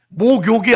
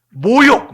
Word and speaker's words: 모욕: 박아 드러내놓고 욕되게 했다 모욕시켰다 목욕이 아니고 모욕 모욕 알죠 모욕 어떤 사람들은이 기역자 발음이